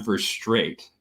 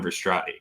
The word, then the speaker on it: Verstraete: It's actually Verstraete, not Verstrati.